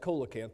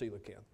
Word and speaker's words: coelacanth: don't remember the coelacanth it looks like Cola can't but it's pronounced coelacanth maybe you don't remember